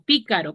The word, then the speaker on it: pícaro: Pi, ca, ro, ¿cierto? ¿Dónde tiene la sílaba tónica? La esdrújula. No. ¿Dónde tiene la sílaba tónica? ¿En qué sílaba? La pi. ¿En la pi, en la ca o en la ro? ¿Cuál? Pi. Pícaro. ¿En la? Pi. En la pi. ¿Qué posición de sílaba tiene? ¿Última, penúltima o antepenúltima? Antepenúltima. En la antepenúltima. Entonces, ¿qué tipo de palabra es? Esdrújula. Esdrújula.